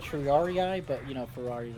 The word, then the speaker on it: triarii: I meant more like triarii but you know Ferrari is okay mean triari triari cuz that's how that's how they say it in uh Rome in Rome Total War I know they say